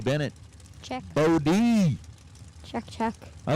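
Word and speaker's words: Bode: up B Bennett check Bodie check check I like the fact that you know sometimes they'll spell out the name phonetically you know whe it being b o d e it's bod Bennett check Che put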